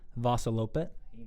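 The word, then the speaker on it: Vasaloppet: Vassalopet.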